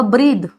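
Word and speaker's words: breathe: ब्रेथ ठीक है और इसका वर्ब फॉर्म होगा ब्रीद जब ये ब्रीद वर्ब होगा तब ये प्रोनाउंस होगा ब्रीद और उसको ई लग जाएगा इसके एंड में ई लग जाएगा और जब य नाउन फॉर्म में होगा सास तो यह ब्रेथ ऐसे यूज होगा माने सास ये नाउन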